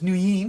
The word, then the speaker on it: Nguyen: And thank you, Hui, for teaching me that the family name is Nguyen, like that, right? Remember Still you not taught. correct, but yeah, acceptable. All right, help me. Kui Nguyen T.